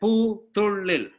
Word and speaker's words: Poothullil: Okay, so I'm going to give everyone, just the way it is written. It is phonetically correct. Poothullil or Poothullil.